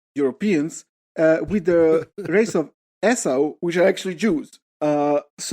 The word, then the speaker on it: Esau: So I don't know, how do you pronounce this? Esau. It's E-S-A-U. How do they say that? Esau.